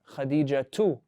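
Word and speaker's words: خديجة: Is Khadija a name that accepts tanween or no? Do we say Khadijatun or Khadijatu? You said with a tanween?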